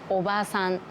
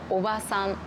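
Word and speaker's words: おばさん: ビル、おばさん、おじさん。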